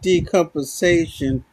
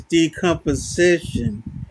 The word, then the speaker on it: decomposition: It's not decomposation, it's decomposition.